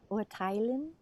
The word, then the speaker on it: urteilen: To judge, Urteilen. urteilen. Urteilen. Yeah, even though actually it's not a separable verb, sometimes you still emphasize the prefix.